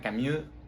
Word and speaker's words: Camus: Es que se pronuncia Camus, no con este U al final.